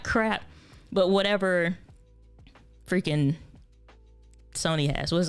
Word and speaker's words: Sony: is how it works but talking about the zonizi sony zoni or sony it is actually pronounced sony zve10 usbc let's cut over to that camera